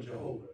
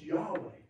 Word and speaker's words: Yahweh: in Adonai that says Jehovah, Yahweh, more the pronunciation. We call it Jehovah. It's Yahweh.